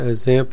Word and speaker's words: XAMPP: people that are listening on audio only a examp is spelled x a m PP or you can